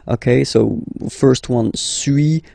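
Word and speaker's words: suis: okay so first one Su as you've been noticing you don't pronounce the final s okay and for two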